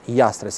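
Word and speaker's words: Llastres: through double l and according to the rules of the spanish phonetics it should be pronounced as yastres and actually that's the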